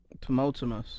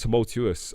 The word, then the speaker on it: tumultuous: couldn't say that word tumultumus no it's tumultuous i said it right